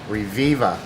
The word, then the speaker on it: Reviva: Company called, and I'm thinking this is how you say it, Reviva.